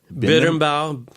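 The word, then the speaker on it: berimbau: can you say the name it's a bit bitter about it's spelled BER imba you it's from I think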